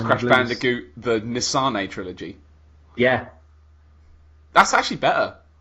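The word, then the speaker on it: N. Sane: So it's Crash Bandicoot, the Nisane trilogy.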